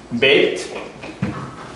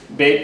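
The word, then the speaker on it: בית: next to each other bit is the B sound it's actually a b or a v depending on whether it's got what it's called a d a mark in the middle makes it a b hard you take the dot out and it becomes soft v these it come loud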